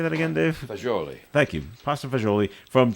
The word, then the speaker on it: fagioli: Fagioli. Thank you. Pasta fagioli from Cello's. You know, And- people would say pasta fazool. Yeah. But it's pasta fagioli.